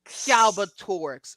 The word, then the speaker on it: Galbatorix: John malkovich's character I'm not going to follow pronouncing that name again galbatorix galbatorix okay thank you a powerful but evil Monarch